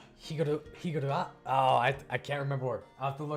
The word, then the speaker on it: Higurashi: It's not Hiraguchi, it's... what was it? Higurashi?